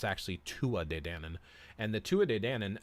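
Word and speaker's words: Tuatha Dé Danann: Denon now a lot of people think it's pronounced tuatha data in him but it's actually Tua de danan and the Tua de Dannon there's actually and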